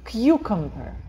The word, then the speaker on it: cucumber: Куда ударение? Вот. На первый слог. «Cucumber». Я говорю «кью», а потом все остальные я говорю «кмбер», «cucumber».